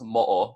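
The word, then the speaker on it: moʻo: And then on the bottom, it's not going to be pronounced mu, it's going to be pronounced mo'o because of that okina break as well, which is the Hawaiian word for gecko.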